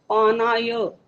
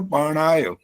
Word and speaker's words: पानाय: आचार्य जी अवग्रह लगा के पा को आ, ना को आ, या, पानाय। हाँ, और आप बोल रहे हो पाणाय। ण बोला है हर जगह, दो जगह पर ण आया, और भी दो गलतियां,